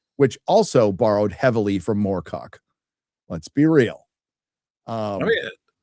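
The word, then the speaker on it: Moorcock: Uh Morcock is one of the his target targets. Michael Morco, by the way, not just Morcock.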